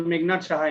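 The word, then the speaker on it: Meghnad Saha: It was just to pronounce the name of the college. It's okay. It was Meghnad Shaha Institute of Technology.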